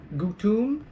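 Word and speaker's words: gutom: So O is always u. Yes. So gutum.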